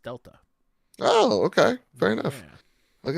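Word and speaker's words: Δ: Metal Gear Solid Delta the triangle is pronounced Delta oh okay fair enough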